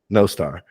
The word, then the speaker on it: Nostr: I didn't know how to properly say uh Noster is how you say it or Nostra or no star okay no star yeah okay well I learned something new today